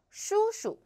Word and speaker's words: 叔叔: So we found the second 叔 is natural tone, should be read light and short. 叔叔诗屋 first tone, 书书